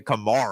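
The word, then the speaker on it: Camara: 20 points Simmons has 13 Aon has 14 camarra has four not Alvin what I'm just saying it's he pronounces it Kamar Kamar okay sorry well Kamar has seven points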